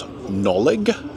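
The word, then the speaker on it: Nollig: This next one is a bit of a small ruin just up there on the hill, which I think you would pronounce Nolig Castle. N-O-L-L-I-G. There it is.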